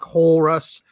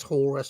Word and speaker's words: Horus: Puff Daddy just says Horus to rhyme with chorus or whatever.